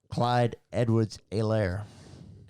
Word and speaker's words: Clyde Edwards-Helaire: Clyde Edwards-Helaire. Clyde Edwards. C-E-H. C-E-H. Yeah. So I believe the H is silent.